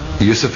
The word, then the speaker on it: Yusuf: He said, can't you use the Arabic pronunciation? I said, yeah, why not? So, Yusuf Islam.